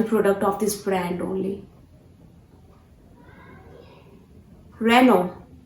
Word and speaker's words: Renault: Renault. Yes, this is the correct pronunciation. Renault is a wrong pronunciation. Never pronounce this word as Renault. This is Renault. How? Renault. Yes, this is again from